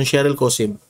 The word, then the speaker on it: Sheryl Cosim: Ah yung pronunciation Shery Cosim.